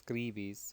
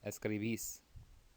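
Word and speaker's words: escribís: right escribis vosotros escribis make sure you're hitting that accent under the last syllable so you can see there's an accent over the last I it's not as clevis or as Cleaves it's escalvis and the aeos we've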